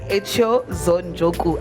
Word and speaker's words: Kayser-Echeozonjoku: I'm joined in studio by Kayser-Echeozonjoku. I hope I pronounced your surname well.